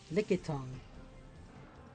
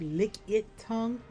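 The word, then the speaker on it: Lickitung: Licky tongue. I don't know. I keep pronouncing it as licky tongue. It's actually pronounced lick tongue.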